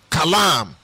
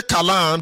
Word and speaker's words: Kalam: I may not be able to pronounce it well, don't mind me. And when I say Abul, the spelling is A-B-U-L. Kalam. When I say Kalam, the spelling is K-A-L-A-M.